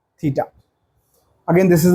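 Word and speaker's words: theta: मतलब ये एंगल बोलते हैं थीटा, ये इसको बोलते हैं थीटा, this is हाउ इट is pronounced, थीटा।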